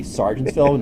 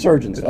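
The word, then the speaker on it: Sergeantsville: When you look at that, people say Sargentsville. No, it's not Sargentsville. It does Surgeonsville. Okay. So that's how you pronounce it.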